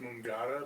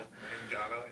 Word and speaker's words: Mangata: It's pronounced Mangata. But Mangata? Mangata, M-A-N-G-A-T-A.